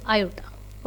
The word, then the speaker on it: aorta: Spelling is AORTA बट we pronounce it एज आयोटा।